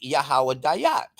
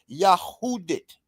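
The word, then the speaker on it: יהודית: These alphabets read Yahoo. Yah. That's Yah Yh. Uh who right? Dallot D YT. Yah who did. They say that's yahawa dat. That's not that's not there's no such language called yahawah. This here in Hebrew reads yahudit.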